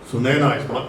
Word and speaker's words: Sunaina: Sunaina. It rhymes with China.